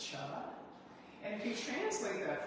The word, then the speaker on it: Chih: That third word is pronounced cha.